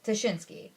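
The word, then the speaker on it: Ptashinsky: It says Tashinsky, like how pterodactyl is pterodactyl even though there's a P in it.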